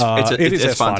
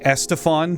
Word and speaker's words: Esfand: It is Esfand. It is Esfand. I always want to say Estefan, because in my brain that makes more sense, but his name is Esfand.